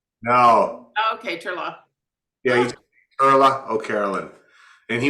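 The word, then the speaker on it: Turlough: you say it Carla you don't pronounce the GH no okay Turlock yeah oh Carolyn and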